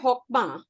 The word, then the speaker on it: Chokmah: इसको pronounce करते हैं Hokmah, लेकिन इसका spelling है CHOKMAH.